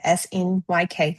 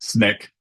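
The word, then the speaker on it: Snyk: Uh Sny K I don't want to butcher the name incorporated. Snick.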